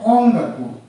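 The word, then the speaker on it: 音楽: For example, on plus gaku, and it followed by G sound, it is pronounced as ongaku.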